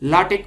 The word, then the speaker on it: LaTeX: written in celebs तो नाटक नहीं बोलते हैं लास्टिक बोलते हैं इसको इसी तरह हमारे पास एक